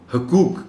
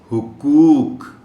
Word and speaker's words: حقوق: جلدی نہیں ہو پاتی۔ حقوق کہنے کے ہم عادی ہیں، حقوق ہی کہتے ہیں۔ درست تلفظ اس لفظ کا ہے حقوق، ہے کے پاس، ہے کے اوپر پیش ہے۔ احترام، اس لفظ کا